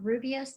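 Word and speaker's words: Rooibos: Hibiscus tea and the Rubios tea, is spelled Roobios, are the two best polyphenol natural sources you can get.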